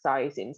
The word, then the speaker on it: saisin: Saisin. Saisin. It stays quite in the middle.